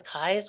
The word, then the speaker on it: Kai's: Because I said to Betsy, I said, it's the Keys company. She goes, no, it's the Kai's company.